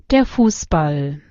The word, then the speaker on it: Fußball: Passen is like normal. फूसबॉल में क्या हो रहा है ना, आपका जो यू है उसका प्रोनाउंसिएशन ना थोड़ा लंबा रहता है. तो इसमें क्या होता है, आपका एस के ऊपर ना स्ट्रेस ज्यादा बढ़ जाता है.